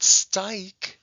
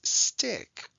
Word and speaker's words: stick: different this one is stick it's still one syllable and it's still closed and we have abrev over the eye because it's not styke it's stick and we have a